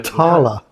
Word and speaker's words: Talia: It's French. So Tala.